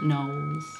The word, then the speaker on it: Knollys: I was going to say Lettice Knollys. Would that be right? Oh, yes, except you probably pronounce it Knowles.